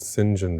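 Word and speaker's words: St John: singen Rivers spelled as sa John Rivers but pronounced singen Rivers who proposes marriage to Jane repeatedly at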